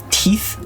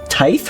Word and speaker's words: tithe: fate can be avoided by paying the Ruby teeth I never know to pronounce this word teeth pronunciation the Ruby Ty tithe really okay the Ruby tithe let us go